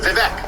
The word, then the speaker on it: Vivek: Is it Vivek? Vivek is how it's pronounced.